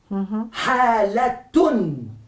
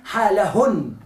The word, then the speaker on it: حالة: Halatun. Hay que decir tun, no puede decir halahun. No, hay que pronunciarlo como ta. Halatun.